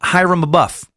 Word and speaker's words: Abiff: pronunciation thing here um Abiff is pronounced Hyrum a buff thank you I think